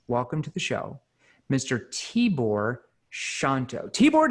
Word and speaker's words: Tibor Shanto: to the show mr t-bor shanto t-board did i pronounce your name right you absolutely did you nailed it thank you jeremy you